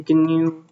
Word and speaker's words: GNU: is made by the G people all right the guu um project and you pronounce it with a hard g g uh though it